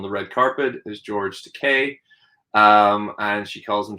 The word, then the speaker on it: Takei: to them on the red carpet is george takei um and she calls him george takai you know and he and he it's the